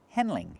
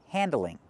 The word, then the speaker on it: handling: We do not pronounce the word handling, handling. It's pronounced handling, handling. You handle a problem. And handling problems can be difficult. Not handling, but handling. Use the a sound like fan and man.